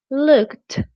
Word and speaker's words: looked: Instead looked, the ed sounds like a t like really strong.